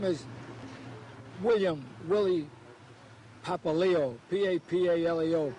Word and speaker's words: Papaleo: well you know my name is william willy papaleo p-a-p-a-l-e-o peppa leo and in school they call me pap papa papa nobody could pronounce the name and they called me